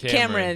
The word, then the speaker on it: Cameron: Cameron.